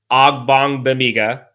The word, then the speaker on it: Ogbonnia: So after that, I think you look at Cole Christianson, Eamon Ogbonnia, I said it right finally, Damon Lloyd, and Andrew Brown.